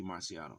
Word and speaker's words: Marciano: but this is Rocky Marciano so apologize for the mistake the miscon pronunciation but here we go the correct pronunciation Rocky Mr Rocky Marciano here we go boxing